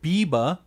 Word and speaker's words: Bybba: And so in one of your latest Instagram reels, you posted an initiative which is pronounced Biba, but it's spelled Bybba, right?